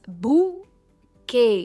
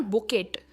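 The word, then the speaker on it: bouquet: सबसे पहला है इट्स बुके। के पर इसकी स्ट्रेस है। इट्स बुके एंड नॉट बुकेट, इट्स बुके। जो एन में टी है वो प्रोनाउंस नहीं होता है।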